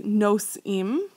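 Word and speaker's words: נושאים: Okay, did you say nosim? Okay, nosim. It rhymes with ovrim. It rhymes with shomrim.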